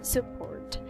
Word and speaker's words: support: we don't say support support this one is support support i have to support you whatever you like to do the first syllable is the unstressed which makes it a schwa sound support support support support